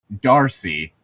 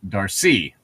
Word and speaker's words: Darcy: Okay, for the French, it's literally just that the emphasis is put on the second syllable. So English, it's Darcy, and French, it's Darcy.